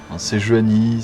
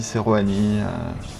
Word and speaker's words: Sejuani: Sejuani, Seruani, il y a deux prononciations.